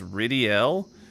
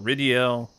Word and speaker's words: Rydell: Interesting he says his name is Ridiel when it's spelled Rydell.